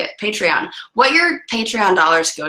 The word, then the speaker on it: Patreon: we're doing this again well there what's your patrón patrón patreon how do you say it patreon what your patreon dollars go to this weekend